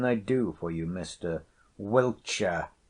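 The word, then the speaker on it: Wiltshire: do for you Mr wilcher I says though are most be called welsher but Wilshire is the way it's spelled if the people on the beach could only get their tongues about it and what do I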